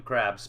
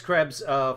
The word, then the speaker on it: Krebs: Chris Krebs, he's calling him Krabs, but just a pronunciation thing. Chris Krebs, former Microsoftie, in charge